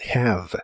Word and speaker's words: have: La h se pronuncia como una j suave y la e del final es muda, lo cual es muy común en inglés. La palabra termina con el sonido de la V, que es labiodental y